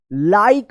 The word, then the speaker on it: like: यहां पे रूल्स देखिए, लास्ट में ई आया है तो इसका कोई उच्चारण नहीं होगा, और ई से पहले वाला वोवेल आई आया है तो यहां पे आई का आई उच्चारण अपने रूल्स में पढ़ा था।